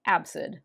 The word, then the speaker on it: ABCD: commander of the ship is named abcd or as it will be pronounced throughout the film absid absid is played by tom